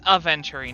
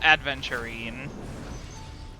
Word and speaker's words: Aventurine: adventurin banner I always I accidentally pronounce his name like there's a d between the A and the V it's aventurine not adventurine I'm going to forget